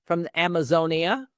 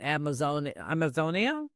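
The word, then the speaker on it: Amazônia: Amazonia. Well, I read that's right in English that you can call Amazon. In Portuguese, the Amazonia, it has an accent on the O, like no, like a little accent.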